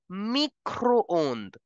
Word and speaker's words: micro-ondes: I in French is pronounced as E. So micro will give the sound of micro. Microwave will be pronounced as le micro-ondes.